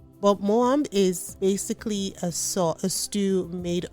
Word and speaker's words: Moambe: So I found out Moambe is actually, it seems to be like a Belgian influenced pronunciation of the word. So the Lingala version is actually pronounced Moambe or Mwambe. But Moambe is basically a stew